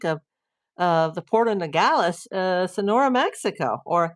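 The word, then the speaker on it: Nogales: uh the port of Ngalas uh Sonora, Mexico or Mexico if you want to pronounce it properly. if you want me to pronounce it.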